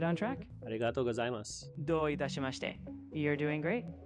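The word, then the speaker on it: ありがとうございます: And you also just said arigatou gozaimas, which both of those words had U's on the end that are not very clearly pronounced as well. So arigatou gozaimas, I assume, is similar to domo arigato.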